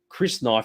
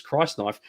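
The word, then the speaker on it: crysknife: up on this but i always always pronounce chris knife but it's christ knife uh when you pull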